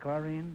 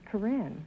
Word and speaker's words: Corinne: this is Karine Clark is that the way you pronounce it chlorine no Groucho it's Corinne Korean man are you